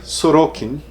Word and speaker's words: Sorókin: Britney que o Yuri me ensinou é Vladimir suruken que se pronuncia Será que foi publicado pela 34 recente